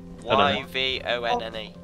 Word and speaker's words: Yvonne: Vaughn? I don't even know how to say that. Is that how you say it? Y-V-O-N-N-E.